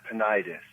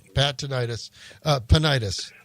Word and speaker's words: Panayides: Yeah, it's Panayides. I'm glad you pronounced it because I almost did it wrong. Panayides.